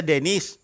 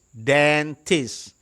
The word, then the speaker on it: dentist: dentist in this Town dentist Bacanya jangan dibaca Denis dentist C perhatikan hurufnya baik-baik